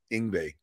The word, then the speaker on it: Yngwie: this guy you know Yngwie yeah we we no no no it rhymes with Stingray just say Stingray ingbe it's easy all